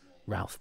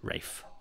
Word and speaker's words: Ralph: Rafe ra Alis um I had a teacher who we thought was called Ralph but he pronounced it Rafe same spelling it's R fines isn't